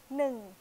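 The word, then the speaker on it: หนึ่ง: 它叫能。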